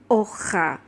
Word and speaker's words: hoja: In Spanish, even though we write the letter H or H, we don't actually pronounce this letter. We never pronounce this letter in H. So in writing, we have to remember to put the H. But when we say it, we are only going to say hoja.